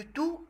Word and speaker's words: tout: On fait la liaison. Le T qui est à la fin de tout et le U de usé.